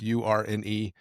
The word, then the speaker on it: Urne: I don't know if it's Ern or Yurn. It's Urne.